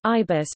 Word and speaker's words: IBus: The intelligent input bus (IBUS), pronounced as iBus, is an input method (IM) framework for multilingual input in Unix-like operating systems.